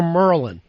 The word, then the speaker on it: Maryland: Merlin. They'll also say Merlin down there instead of Maryland.